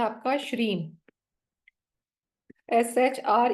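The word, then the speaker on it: Shreem: ऐसे जाता है य श्रीम ठीक है स्पेलिंग है इसके एस एच आर ई एम पर इसका साउंड ऐसा जाता है श्रीम माहालक्ष्मी का मंत्र आप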